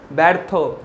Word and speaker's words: ব্যর্থ: জফলাযুক্ত ব্যঞ্জনের পরে যদি অকার উচ্চারণ হয় তাহলে তার উচ্চারণ হবে কি? এ। মানে এটার উচ্চারণ কি বলেছিলাম? ব্যর্থ, বয় জফলা আকার থয় রেপ, অর্থাৎ এর উচ্চারণ হবে ব্যর্থ।